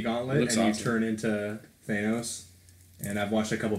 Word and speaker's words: Thanos: in the whole time how do you say danos Thanos he kept saying fanos like I don't know